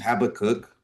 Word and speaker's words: Habakkuk: of the book of Habakkuk, or for those of you with British pronunciations, Habakkuk. Habakkuk is, in one sense,